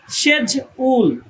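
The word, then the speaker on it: schedule: এখানে এস সি এইচ মিলে একটি ধ্বনি উচ্চারণ করেছে। সেই ধ্বনিটি হচ্ছে স। ই তে এ আর ডিতে জ। তাহলে সেই হিসেবে প্রথম স্লেবেলের উচ্চারণ হচ্ছে সেজ। সেজ দ্বিতীয় স্লেভেল ইউ এলই। এটি একটি স্প্লিট ডায়াগ্রাম। তাহলে পুরা শব্দটির উচ্চারণ দাড়াচ্ছে সেজউল ফারস্ট সিলেবল সেজ সেকেন্ড সিলেবল উল সেজউল এইযে এখানে সেজ প্রথম সিলেবলকে নির্দেশ করা হয়েছে উল দ্বারা দ্বিতীয় সিলেবলকে নির্দেশ করা হয়েছে সেজউল অর্থ হচ্ছে সময় সূচি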